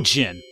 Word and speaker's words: djinn: I think the D is silent in this one. A real djinn.